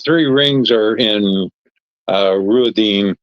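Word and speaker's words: Rhuidean: The the three rings are in uh Ruodine or Ruan, however they say it. Uh Ruidian is how they say it on here.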